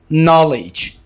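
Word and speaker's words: knowledge: यहां पर के को साइलेंट रखेंगे। नॉलेज, इल्म।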